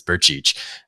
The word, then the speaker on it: Turcich: He's from Croatia, and he always talks about his last name just being like Bursic because that's what people pronounce it. But the correct Croatian pronunciation is Turcich.